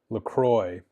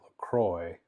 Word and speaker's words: La Croix: drink name or something, but in French, you would definitely not pronounce that LaCroix traditionally. I think it would be much harder to pronounce. It's like La Croix, La Croix.